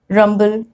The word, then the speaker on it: rumble: But many times when M and B comes in the middle, we pronounce both of them. Like in these examples, rumble, tumble, tumbler, slumber. Okay, so I'm pronouncing M and B both.